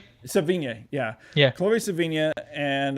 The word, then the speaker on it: Sevigny: Chloe, I can never pronounce the last name. Chloe Sevigny? Sevigny, yeah.